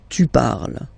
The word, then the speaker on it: parles: So you've got the two first forms, you pronounce them the same way. You write them differently, of course, because you've got here, and then you've got and s, okay, but then phonetically, they are the same.